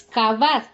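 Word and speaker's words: כבד: Y la raíz de esta palabra kaved, o sea, de donde se desglosa esta palabra, es kavad. Se escribe lo mismo, solo que las vocales son diferentes.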